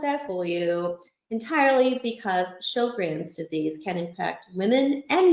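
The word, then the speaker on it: Sjögren's: Um, so yes, it is pronounced show grins.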